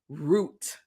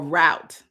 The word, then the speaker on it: route: So the origin of routine is root or route depending on how you want to pronounce it.